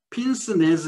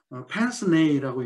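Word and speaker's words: pince-nez: 그리고 펜스네이, 이게 프랑스어이기 때문에 핀스네즈 이렇게 읽지 않고 펜스네이라고 읽는데 이것은 코골이 안경이에요.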